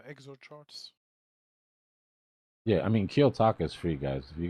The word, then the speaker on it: Kiyotaka: My bad, but you said kill taco? Kiyotaka. K-I-Y, Japanese, spell it like if it's a Japanese word. Kiyotaka, Kiyotaka .ai.